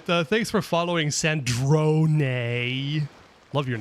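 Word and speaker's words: Sandrone: Sandron. I swear everybody was calling her Sand Drone before someone actually pronounced it in game. Does nobody know how to pronounce Italian or something?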